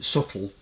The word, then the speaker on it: subtle: It's very subtle, with a silent B.